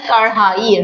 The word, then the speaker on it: कढ़ाई: उच्चारण ह का उच्चारण आता है कढ़ाई ढ और यह है ण।